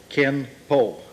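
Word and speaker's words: 拳法: The Japanese look at these same characters and pronounce them Kenpo.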